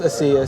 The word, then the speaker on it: Asia: The whole world was Asia at one point. But it's pronounced Asiya, so if that gives you light, go ahead with it.